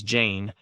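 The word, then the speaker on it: Jeyne: Her name is Jane. It rhymes with pain."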